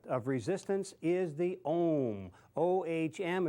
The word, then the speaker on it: ohm: O-H-M, it's pronounced ohm.